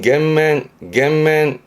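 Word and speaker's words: 減免: 감면해주는 발음은 겐맨.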